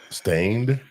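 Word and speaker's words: Staind: of Aaron loose either well you heard stained stained yeah is that I pronouncing it right yeah yeah you are right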